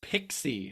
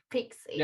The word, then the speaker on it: PKCE: you even pronounce that it's pixie actually okay pixie okay there you go yeah fantastic that's what helps me remember how the acronym goes so i think of